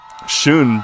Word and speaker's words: Sheon: Shun, by the way, is what I heard is pronounced like.